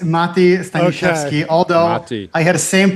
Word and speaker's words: Mati: It's Mati.